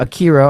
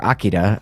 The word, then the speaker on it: Akira: classics are I mean you were talking about Akira or Akira I mean pronounce it however you want but watch it